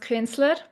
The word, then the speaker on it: Künzler: Um, so it's pronounced Kinsler.